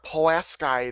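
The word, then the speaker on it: Pulaski: Could see over 2 feet of snow to go near Palas Sky there. That's how you say it, believe it or not. I did kind of look that up before the video.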